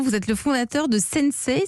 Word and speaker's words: Sensei: êtes le fondateur de sennecé ça se prononce comme ça s